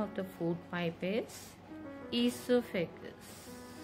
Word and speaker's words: esophagus: The other name of the food pipe is esophagus. O is silent, children.